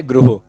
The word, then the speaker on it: गृह: देखो भाई, इसका जो सही प्रोनाउंसिएशन है वो होता है गृह। कैसे? ये जो ये वाली मात्रा है ना, ये ओ का साउंड देती है, आपको पता है? दिस इज गृह।